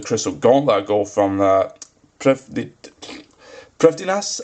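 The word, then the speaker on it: Prifddinas: gauntlet go from the priftiness i believe it's pronounced yeah proofiness and just giving that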